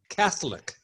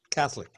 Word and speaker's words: Catholic: Kath catholic' no Catholic the accent is on the first syllable when you're talking about the religion Catholic Catholic I heard the word